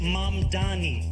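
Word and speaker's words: Mamdani: And furthermore, the name is Mam Dani. M A M D A N I. You should learn how to say it to Mr.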